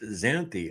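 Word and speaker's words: Xanthe: My name is Oh, okay. Pronounced Zanthi.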